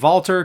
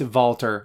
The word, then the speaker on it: Walter: Toby says Walter is over right now, and yes, I'm pronouncing it as Walter because that's what they're doing, and Nigel says it that way, and I loves me some Nigel, so it's Walter.